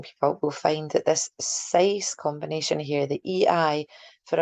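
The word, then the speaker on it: seis: You might want to consider the number 6, size, like the word slice with the L move.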